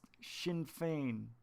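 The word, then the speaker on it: Sinn Féin: buckle up mike rotunda it's pronounced shin fein all right i couldn't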